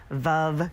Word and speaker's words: Veuve: Veuve rhymes with love.